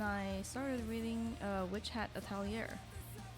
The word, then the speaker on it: Atelier: Yeah, and I started reading Witch Hat Atelier. Atelier, yeah, that's how you say it.